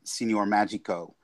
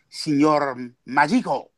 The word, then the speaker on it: Signor Magico: And it's the same thing with Power Man and Iron Fist when Sanford and I created Signor Magico, which of course I'm not even pronouncing it properly. It's Signor Magico.